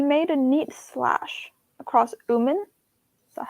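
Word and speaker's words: Oomen: He made a neat slash across Uman. Is that how you say it? Yeah, Uman.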